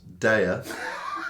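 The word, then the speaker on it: Deya: Right, so this is the Super Glue from Daya, pronounced Daya, and it's a tropical, citrusy, fruity pale ale.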